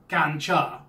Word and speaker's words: ganja: what you're asking for the drug is known as ganja and it's pronounced ganja so what's the legal